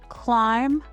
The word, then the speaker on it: climb: Silent B usually appears after M or before T. Common examples include climb, thumb, lamb, and debt. In all of these words, the B makes no sound at all.